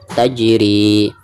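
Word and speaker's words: تجري: Cara membacanya itu harus ada pantulan. Tajri, tajri, seperti itu.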